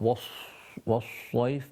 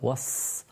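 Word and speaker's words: والصيف: Not was-sayf, but was-sayf.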